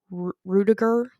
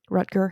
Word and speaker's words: Rutger: not have been a robot in Blade Runner, Rudiger. How do you say that? Rutger.